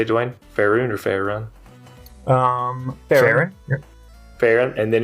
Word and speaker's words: Farron: Farron or Farron?